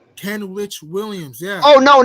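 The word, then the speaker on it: Kenrich Williams: know you talk about Ken witch Williams that's how you say his name Ken Rich Williams yeah oh no not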